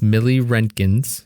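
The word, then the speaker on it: milliroentgens: rented jins okay so we looked up how to say the name the word it's Millie renkins yeah okay so it's 07 Millie renkins okay okay okay all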